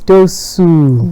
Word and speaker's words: Dosuur: Why did it sound like S-U-E though? So I put that. Usually, I put that to just explain to people how to pronounce it. Right. So, Dosuur. Yeah. Right. Maybe I should take off the E. Yes. That confuses people. That confused me.